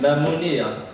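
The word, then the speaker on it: Mimouna: And have you heard of Mimona? Maybe I'm pronouncing it wrong. It's Mamonia.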